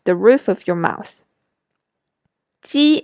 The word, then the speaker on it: ji: Ji is similar to j in jip, but the difference is when you pronounce j in jip, your lips are rounded. When you pronounce ji in Chinese, your lips are spread wide, like when you are smiling.